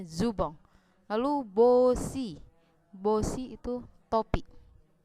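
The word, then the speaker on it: ズボン: Jubong tulisannya jubon, dia memakai huruf katakana, tulisannya belakangnya n dibacanya eng, jadinya zubong.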